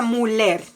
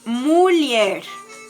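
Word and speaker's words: mulher: se dice mujer y se escribe m l h r pero no se pronuncia müller sino que la h al lado de la l le da la pronunciación de y entonces es mulier m 1 l h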